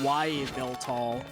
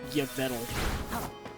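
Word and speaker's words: Yveltal: You'd think they'd be pronounced Xern and Okay, I guess Y tall. That one I'll take the L on. I thought it was pronounced yeetle.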